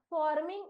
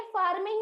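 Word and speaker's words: forming: जब पेपर के अंदर आएगा तो आपको उच्चारण ऐसे दिया जाएगा, फॉर्मिंग इस शब्द का सही स्पेलिंग चुनिए, और 3 ऑप्शंस आपके पास अवेलेबल है, राइट एंड, देखिए फार्मिंग नहीं है, फॉर्मिंग है, right and, सो फॉर, फॉर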